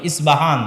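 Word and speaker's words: اصفهان: আমরা প উচ্চারণ করি ইস্পাহান আরবিতে এটা উচ্চারণ হয় না আরবিতে হয় আল আসবাহানি বা উচ্চারণ হয় ইসবাহান বা আসবাহানি সেখান থেকে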